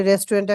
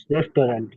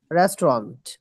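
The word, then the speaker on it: restaurant: ঠিক আছে তাহলে এখানে যদি বলি আমি একটি রেস্টুরেন্টে খাবো তাইলে কি হবে I will it এট রেস্টুরেন্ট রেস্টুরেন্ট রেস্টন্ট রেস্টুরেন্ট ঠিক আছে এটা উচ্চারণটা এরকম হবে রেস্টরেন্ট রেস্টুরেন্ট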